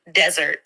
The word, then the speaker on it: desert: The pronunciation here is desert, with the emphasis on the first syllable.